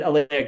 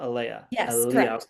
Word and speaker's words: Aleah: And I need to make sure I'm pronouncing right. It's Aaliyah, not Aia.